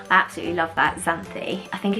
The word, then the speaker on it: Xanthi: It's definitely still in the unique names, and that is the name Xanthi, and Xanthi spelt with an X rather than what I